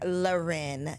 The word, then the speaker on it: Lauren: working woman in the building we have Dr luren Joseph in the studio welcome to the show